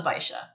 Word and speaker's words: Baixa: It's called the Baixa. Okay. And I looked up how to pronounce that one, so I know how to do it. There's an X in there. You wouldn't know it, but there is.